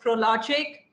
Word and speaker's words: Prologic: Yes, you pronounced the company correct. It is Prologic. So it's proactive, logical, and with IQ. So that's what confluenced the name Prologic.